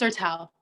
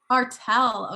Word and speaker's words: Arthel: We have Arthel. Is that how you pronounce that? Say that? Correct me. Can you guys hear me? Yes. It's Artel. Artel.